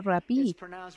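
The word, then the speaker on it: ῥαββί: pero escucha la definición en griego se pronuncia rapí y en griego significa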